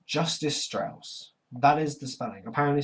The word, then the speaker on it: Justice Strauss: it you need them over number one it's justice Strauss that is the spanning apparently street justice status but it's pronounced justice Strauss as we see in the first few seconds